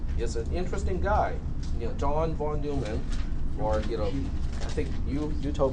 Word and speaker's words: von Neumann: John von Neumann, or I think you told me that it's pronounced von Neumann.